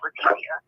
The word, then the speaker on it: Letecia: And then, anyway, so the other girl, her name is Leticia, spelled the same way, but it's like they say like Spanish Leticia.